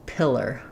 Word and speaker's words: pillar: So usually when we have AR or OR at the end of the word, it doesn't say R or, it just says It's short and reduced and unstressed. So you do need that tight American R, but no diphthong, no ah or o before it, just And then the beginning of the word is just like the word pill.